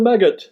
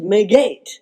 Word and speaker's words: Maggot: Maggot? Yes, I am, but it's pronounced Magette.